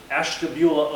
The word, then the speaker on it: Ashtabula: crowd and see if anybody knew how to pronounce the town that I'm from, Ashtabula, Ohio.